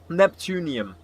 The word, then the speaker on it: neptunium: N Neptun Neptunium it's pronounced.